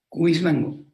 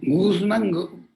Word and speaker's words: Cuismango: de su primera autoridad, Cuismango, pero mal pronunciado me decían Guzmango, decían ellos, Guzmango, que es todavía un pueblo que existe en Condoza. A Cuismango fonéticamente lo transforman en Guzmango.